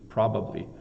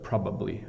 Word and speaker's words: probably: word probably so probably if I say it really slow does that help proably probably um and the B's are a little tricky right the B probably probably um now I